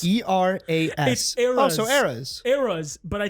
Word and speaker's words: Eras: be popis AIS tour Iris e r Aris e r a s so Aras Aras but I think people pronounce it ays whatever it is it's eras but I I've always heard people pronounce it the erys tour right so listen Taylor Swift's billion doll